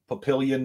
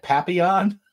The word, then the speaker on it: Papillion: they're like is that Papillon oh Pi p-i-o-l-l-i-o-n or something like that and Papillon they thought the L's double L's was a y sound in Spanish no it's Papillion the uh the one